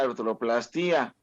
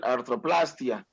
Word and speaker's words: artroplastia: Y es una artroplastía. Aunque ya los españoles, la traducción ya te la pronuncian artroplastia. Pero bueno, según yo es artroplastía, pero los españoles así lo pronuncian, artroplastia, pero pues se oye horrible.